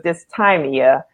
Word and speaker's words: dysthymia: I had to look up the pronunciation. So it's dysthymia.